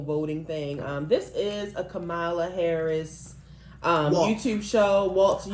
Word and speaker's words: Kamala: No, that's not how you say her name. Kamala. This is a Kamala. I think it's because of our accent. I think we just make that long, like Kamala.